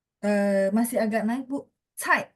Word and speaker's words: 菜: Jadi dia tekan belakangnya, nggak boleh naik. Cai.